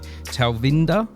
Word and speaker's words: Talvinder: I'm very lucky to have you here today talinda am I pronouncing your name correctly yeah wonderful that's a